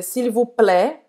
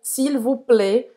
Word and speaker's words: s'il vous plaît: E aqui o AI você pode dizer s'il vous plaît, tá mais aberto, como se fosse um E aberto, perdão. Ou s'il vous plaît, um E mais fechado. Isso é a escolha sua, depende da região da França, tá?